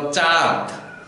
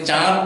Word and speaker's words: চাঁদ: আমরা শুধু চয়ের উপরে চন্দ্রবিন্দু আছে আমরা বলো চাঁদ, দতে কিন্তু চন্দ্রবিন্দু বা নাসিক্য আসবে না, পাঁচ পাঁচ।